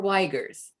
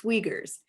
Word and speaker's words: Uyghurs: sometimes they ask me is it uyghurs or weigers and i really appreciate that and i say thank you for asking it's uyghurs and if they mispronounce